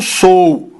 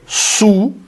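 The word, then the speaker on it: σου: de tatu, não como sou. A palavra grega para teu, que é su, su, é a palavra grega que a gente usa para teu, ela se pronuncia como su, e não como sou.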